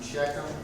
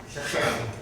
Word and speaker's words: Shechem: the name in there, you're pronouncing Shechem, should be pronounced Shechem.